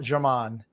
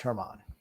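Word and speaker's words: Germán: has always been uh German he's a AAA pitcher without substances the only reason he's still in teams because Brian Cashman is the GM TJ is pronounced Hermon um Drew says see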